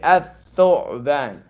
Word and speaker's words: الثعبان: You don't say al-thu'ban. You say al-thu'ban. You see that? So the lam is silent, but it's still there. You write it, but it doesn't sound.